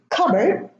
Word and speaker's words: cupboard: It is cupboard, no P, raspberry, no P, and receipt, from receive, no P.